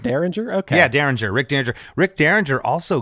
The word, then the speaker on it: Derringer: Is it pronounced Derringer? Okay. Yeah, Derringer, Rick Derringer.